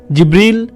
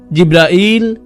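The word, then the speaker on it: جبريل: জিব্রিল, জিব্রাইল, জিব্রাইল, জিব্রাইল, জিব্রিল, এই 5 ভাবে তার নাম উচ্চারণ করা হয়।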